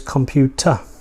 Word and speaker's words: computer: Now, if you were an American, you would say computer, ter, er. You would pronounce the R sound at the end. But in British English, it's pronounced computer, computer. so computer. So the at the end. So be aware that that will be different for American speakers.